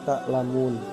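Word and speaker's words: تَعْلَمُونَ: contoh Mad Arid lissukun Hai tulisan aslinya ta'lamuuna karena waqaf cara membacanya adalah ta'lamun yang kedua tulisan aslinya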